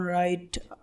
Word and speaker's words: wrong: ডাব্লিউ এর পরে এইচ অথবা আর থাকলে ডাব্লিউর উচ্চারণ হয় না, অর্থাৎ সেটি সাইলেন্ট থাকে। যেমন right, WRIT right, WRONG রং, WHO হু, WRESTLING wrestling.